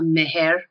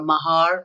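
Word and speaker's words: mahr: And it just so happens that the Islamic marriage contract, which is called a meher or a mahar or mehriye, different pronunciations depending on which country we're talking about, because Muslims live all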